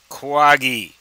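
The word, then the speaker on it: Quagi: the Quad, and the Quaggy. Well, that's not how you spell it. Q-U-A-G-I.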